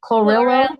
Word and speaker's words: chlorella: I want to say chlorophyll, but I don't know what chlorilla. Chlorella, chlorella.